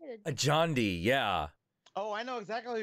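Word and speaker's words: Adjani: Ajandi, yeah.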